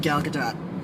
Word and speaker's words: Gal Gadot: affleck and gal gadot we finally can say her name we've figured out our names thank you saturday night live we now know that it's pretty that you pronounce the t the e you know e yes now we also